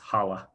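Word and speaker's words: challah: rice slices of ooh looks like chala but it's pronounced hala slices of hala dipped in minestrone and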